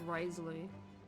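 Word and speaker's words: Wriothesley: really hard man I'm just not going to pronounce the the it's Risley it's too hard hi do my eyes deceive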